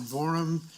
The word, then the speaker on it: Borum: the last name correct was it is it Mr Borum did I get the last thing correct rhymes with forum good evening Mr Forum